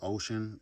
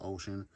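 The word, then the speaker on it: Wouxun: kg-935 um that's uh I think it's pronounced ocean is it looked like it's wolf wolf egg or something but it's pronounced I said pronounced ocean which is strange but okay that's the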